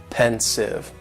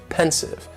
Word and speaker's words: pensive: pensive and the pronunciation very easy just two syllables and the stresses on that first syllable pensive pensive now if somebody is